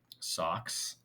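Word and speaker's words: SOCS: weird right there so we use an acronym called socks socks it's spelled this way without the k and it just means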